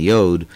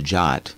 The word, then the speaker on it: yod: they're confused sometimes now the actual Hebrew pronunciations are what I use VAV and yod uh European influences made some academics later call them the wow and the jot but uh those are more europeanized and have been abandoned by modern Israel as they tried to go back to the original pronunciations of these letters but uh other spelling